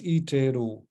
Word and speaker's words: iteru: We just pronounce this one as an I, and then you put a little A in the middle, so it becomes Iteru.